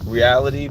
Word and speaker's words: Realitea: Mindful reality, but reality is spelled REALITEA. Reality, like the tea that you pour.